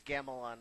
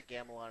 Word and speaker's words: Gamelon: the wand of gamelon I think it's gamilon they pronounced a gamelan in the game the same vein as